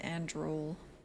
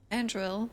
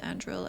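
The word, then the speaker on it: Andruil: This isn't pronounced Andrul. Andril hunted them all, and after a year of killing, approached Gillenane with an offer.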